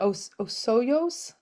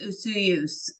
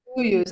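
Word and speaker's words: Osoyoos: Osoyos? It is Osoyos, isn't it? Yeah, I think so. Osoyos, BC? It's Usuyus. Usuyos. Huh. Yeah, that's the proper way to say it, apparently. Usuyos.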